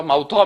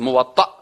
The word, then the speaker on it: موطأ: بعضیا موطا میگن و چی میگن و غلط است. موطأ همین قسم تلفظ درستش اینا او موطأ مالک است.